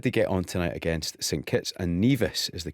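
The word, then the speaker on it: St Kitts and Nevis: so how did they get on tonight against St kits and neas is the correct pronunciation apologies for getting that wrong the first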